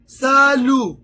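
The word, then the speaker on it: salut: morning बोनजो दूसरा है सालु सा लु मतलब यानी हाय सालु मतलब यानी हाय सालु सालु कितना आसान है सालु यहां पर टी जो है ना वो साइलेंट है फिर आगे बॉस बोस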